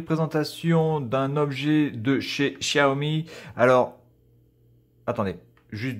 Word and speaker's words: Xiaomi: Donc, la prononciation en chinois de cette marque-là, c'est Xiaomi. Voilà.